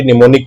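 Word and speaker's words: mnemonic: तो ये क्या है, हमारे निमोनिक कोड्स बोलते हैं। M साइलेंट है यहाँ पर।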